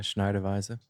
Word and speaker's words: Schneider Weisse: How do you pronounce that? Yeah, Schneider Weisse.